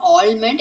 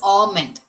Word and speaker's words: almond: It is not almond, it is almond.